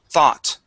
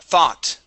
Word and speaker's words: thought: have the word thought this gives us an o or the o u g makes an a sound thought th th what okay one more time thaw thought thought thought good good okay and our